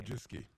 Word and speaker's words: Wojcicki: Sorry, how do you pronounce her name? Wojcicki. There's an extra C. No one knows why.